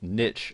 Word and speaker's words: niche: to decide what your niche or niche as some people pronounce it is going to be